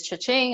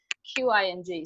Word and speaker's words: Qing: but the nickname is Ching. I say I help women make more money, but have more joy. That's more memorable because nobody can ever pronounce Q. People go, is it Queen? Like it's Qing.